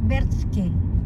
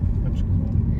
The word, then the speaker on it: Brčko: Zdravo svima, mi smo ovdje u Brčko, Brčki, how do you say? Brčko.